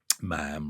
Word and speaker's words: ma'am: you must say um ma'am rhymes with jam not mom and all this kind of stuff.